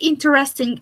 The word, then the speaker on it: interesting: well when you say interesting is not well pronounced you must say interesting with three syllables is it interesting okay